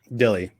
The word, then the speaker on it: Dille: Is it Dill or Dilly? Because I very good question. Thank you, Hyper Casey. Yes, name is Dille. Dille.